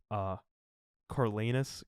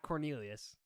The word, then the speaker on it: Coriolanus: And of course it stars Tom Blythe as Coriolanus Coriolanus? Coriolanus Snow. Not Cornelius.